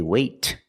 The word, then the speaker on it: wait: release example wait wait I don't say wait I don't release the te it's a stop te I stop the air I stop the air with my tongue in the tea position wait for obvious reasons